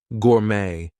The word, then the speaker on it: gourmet: other languages Etc so things like ballet Gourmet we are not going to pronounce the T there she's a ballet dancer